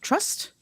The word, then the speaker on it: TRST: And then the cover's a little much, but this is, I pronounce it Trust. It's TRST.